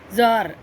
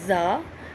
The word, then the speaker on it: Tsar: Tsar, and you can also pronounce it as Za.